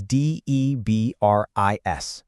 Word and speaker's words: debris: How did you pronounce that last letter? If you said debris, you absolutely nailed it. That S at the end, it's completely silent. It's a little clue about the word's French roots.